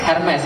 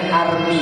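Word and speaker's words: Hermès: Hermes. Oh berarti belum beli itu berarti. Nah, kenapa? Bacanya bukan begitu. Itu makhrajnya salah. Makhrajnya salah. Berarti nggak tahu. Masih pakai barang KW berarti. Bacanya Army, bukan Hermes.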